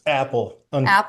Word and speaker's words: Appel: questions, I've invited Appel. Am I saying your name correctly? It's Apple. Just it's just we spell it wrong.